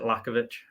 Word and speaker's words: Lachowicz: it's uh it's it's well we pronounce it lakovich so it's I mean